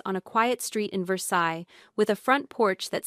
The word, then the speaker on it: Versailles: Greaves was retired now, living in a small town outside Lexington called Versailles, which in Kentucky is pronounced Versailles because Kentuckians do not believe the French should have the final word on anything.